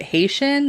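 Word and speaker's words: Hessian: the author witnessed a i think you pronounce it haitian like h-e-s-s-i-a-n but he witnessed a haitian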